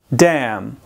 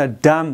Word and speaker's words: dam: Dam. با یاد داشته باشین لغت دم تلفظ نکنین، اشتباه میشه. Dam. به شکل که زنخ پایینتان باید پایین بیاید.